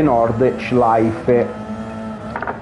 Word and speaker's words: Nordschleife: fatto imparare che sì, il Nürburgring si dice Nürburgring e Nordschleife, con la, in teoria lui lo dice con l'accento tedesco, ma io non ce l'ho.